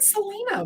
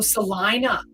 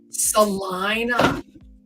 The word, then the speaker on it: Salina: I said Selena. What are you talking about? The basement of a Selena hospital. Oh, Salina. Salina. Nope. I really didn't see that it said IE. I just was seeing E. Salina?